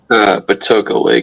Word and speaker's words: Patoka Lake: Patoka Lake.